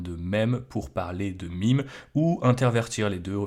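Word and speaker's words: meme: êtes au courant que c'est un terme anglais donc on devrait le prononcer MIM et non même mais vous connaissez le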